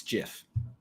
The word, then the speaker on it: GIF: is the Canon It Is by Canon it's Jiff this Canon like Canon cameras Canon no no as in like story Canon is that it's Jiff you look into it it's Jeff well it's